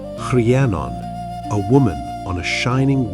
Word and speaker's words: Rhiannon: When he returns, he meets Rhiannon, pronounced Rhiannon, a woman on a